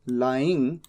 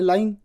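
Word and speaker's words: lying: जमीन पर ही इज लाइंग अब मान लीजिए मैं यहां पर प्रोनंसिएशन नहीं लिखता तो हो सकता है कि आप इसे गलत प्रोनाउंस कर दे आप कह दे ले जबकि यह तो है लाइंग तो इसीलिए प्रोनंसिएशन भी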